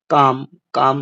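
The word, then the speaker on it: calm: काम में एल दिया गया लेकिन साइलेंट लेटर है।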